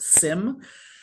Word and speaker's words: SIEM: After that, perfectly layered with it is security information and event management, SIEM, often pronounced SIM.